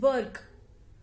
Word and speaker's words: Burke: अब एक दूसरे थिंकर आते हैं, एडमंड बर्ग। स्पेलिंग तो है BURKE, बट इसको हम बर्ग कहते हैं।